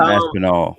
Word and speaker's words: Aspinall: No, Tom Aspinall. Yeah. So there's an L in there.